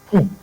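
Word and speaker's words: quey: Because that word there is not "que." It is "key." That word Q U E Y has the same pronunciation as K E Y.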